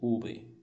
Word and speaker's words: Uber: Mas veja só, essa palavra se chama Uber, sim? Uber. E ela vai ter som de B.